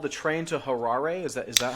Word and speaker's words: Harare: the the other one called the train to Harare is that is that how you pronounce it yeah the train to Harare and and one of the things that you